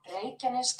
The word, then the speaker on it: Reykjanes: Listen, this is Iceland pronunciation, though. Listen. Reykjanes Peninsula.